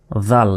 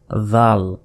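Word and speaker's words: ذال: এ দালের উপরেই যখন নক্তা হয়ে গেল তখন সে অক্ষরের নাম কি? জাল। যেভাবে বের করে উচ্চারণ করতে হবে। জাল এরপর এই দেখুন এটা কোন অক্ষর?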